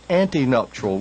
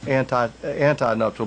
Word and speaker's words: antenuptial: which is sometimes called antenuptial, which is spelled A-N-T-E, not anti-nuptial, but antenuptial, like antebellum, meaning before the Civil War era.